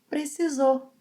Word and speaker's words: precisou: When emotions are high, we end up making some reductions such as ‘para’ to ‘pra’, we often omit the final -u sound of verbs in the past, and we may omit the -r sound of verbs in the infinitive form. So instead of ‘precisou’, Gustavo says, ‘precisô’. Instead of ‘provar’, he says ‘prová’.